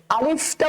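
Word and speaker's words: ألف: আলিফটা উচ্চারণ করার সময় ভিতর শেষের দিকে ফায়ের উচ্চারণটা যেন স্পষ্ট হয়। আলিফ, আলিফ, শুরুতে শক্ত আ লিফ, আ লিফ, আলিফ। আটা হবে শক্ত আর শেষেরটা হবে নরম, আলিফ।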